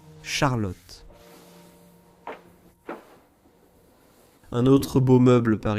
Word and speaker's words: Charlotte: En anglais, tu dirais Charlotte. Mais oui, c'est ainsi qu'on le prononce en allemand, Charlotte.